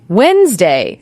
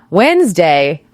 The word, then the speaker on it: Wednesday: Norse god Woden, and over many centuries that middle part just disappeared in everyday casual speech. So the spelling is ancient history, but the pronunciation evolved naturally with the people speaking it. Exactly. Wednesday.